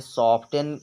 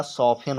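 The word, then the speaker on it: soften: के रूल के अनुसार यह जो एफ और टी आता है अगर साथ में तो वहां पर टी साइलेंट रहता है यह आपको ध्यान देना है लेकिन पढ़ने वाले पढ़ जाते हैं ताकि उनको स्पेलिंग याद रहे रहे तो आपको जो अच्छा लगे आप पढ़ सकते हैं सॉफ्टन पढ़ो या सफन पढ़ो दोनों भी आपके लिए सही है नेक्स्ट है सॉफ्टवेयर सॉफ्टवेयर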